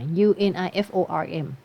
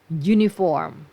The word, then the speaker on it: uniform: ชุด เครื่อง แบบ อ่า u n i f o r m อัน นี้ ไม่ ออก เสียง ว่า อู นะ ออก เสียง เป็น uniform uniform ไม่ ได้ ขึ้น